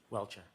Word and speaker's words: Welcher: How do you pronounce his name, Mr. Brennan? Welcher.